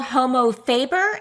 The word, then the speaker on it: Homo Faber: And is it called Homo Faber?